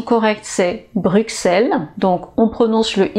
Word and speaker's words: Bruxelles: donc je dirais que la bonne prononciation c'est bruxelles avec un x voilà un autre mot